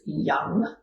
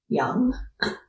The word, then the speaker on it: yam: And the bee mantra here is young as in y a m but pronounced y u n g young.